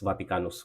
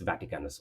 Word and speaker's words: Vaticanus: codex vaticanus I mean codex vaticanos would be the Latin pronunciation codex vaticanus or whatever would be the English translation I pronunciation codex vaticanos